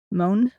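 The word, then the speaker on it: Möhne: M O H N E. Moan. That sounds close enough.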